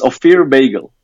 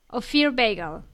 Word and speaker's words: Ofir Beigel: hard to pronounce actually but how do you pronounce your name again uh it's a fair bagel a fear bagel yeah yeah okay so what fear is from